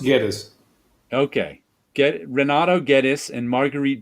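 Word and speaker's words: Guedes: Was it G-U-E? So is that a J sound? No, it's G-U is to turn into a G sound. So it's pronounced Geddes.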